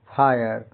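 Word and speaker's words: fire: बड़ी नाकामी भारी विफलता जब किसी वर्ड में आई से आर इ जुड़ा हो तो का उच्चारण साधारणता आ इ अ य होता है। जैसे एफ आई आर ई फायर Hindi अर्थ आग गोली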